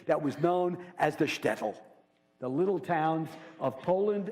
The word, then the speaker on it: shtetl: it over and over all of you say shtetl this is a little Jewish town in the